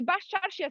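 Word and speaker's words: Baščaršija: Okay, Bascarsija Square.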